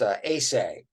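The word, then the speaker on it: Aceh: it's called it's um spelled a-c-e-h but it's pronounced acai right they say kind of an interest of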